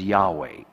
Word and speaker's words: Yahweh: God takes here the next step and he introduces his name that we in English pronounce as Yahweh.